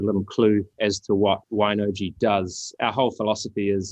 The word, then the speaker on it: Wine-OJI: a little bit about what woi is and I am pronouncing that correctly right yeah you're pronouncing it correctly absolutely excellent yeah thanks